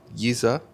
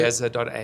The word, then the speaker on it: Yeza: The website is Yiza. How do you pronounce it? Yeza.ai. Yeza.ai. Yeza means medicine. Yes. Comes from Xhosa, and I'm originally from Cape Town.